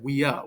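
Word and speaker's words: viā: to be ative so you have weia with a long a okay um and because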